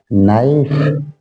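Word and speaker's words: knife: इसको सब जानते हैं नाइक में के साइलेंट रहता है अगला वर्ड है फिथ नंबर का नॉट नोट में के साइलेंट रहता है इसको बोलेंगे नाइफ और इसको बोलेंगे नॉट सेवंथ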